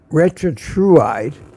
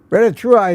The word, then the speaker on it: retatrutide: And has started on something called retatrutide that is experimental.